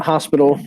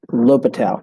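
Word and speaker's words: L'Hôpital: called Low Patel's rule so not Hospital not the hospital um we pronounce that l'hopital so this is a rule named after a mathematician lobital who discovered a special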